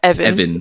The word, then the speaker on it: Evin: Evin.